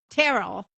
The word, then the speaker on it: Terrell: So you could thank Terrell rhymes with Carol.